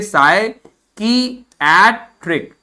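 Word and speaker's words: psychiatric: तो इसके प्रोनाउंसिएशन को देख लीजिए, साई क्या लिखा है? साई की एट्रिक, साई की एट्रिक, साई की एट्रिक, साई की एट्रिक, क्या लिखा है?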